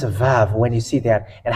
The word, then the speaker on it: ו: it's like uh apostrophe and in Hebrew it's VAV when you see that and how we read